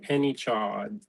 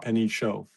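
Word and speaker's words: Pnichaud: P N I C H A U D. Penny Chaw. Penny Cho. Penny Cho. Penny Cho. Okay. Not Penny Chad.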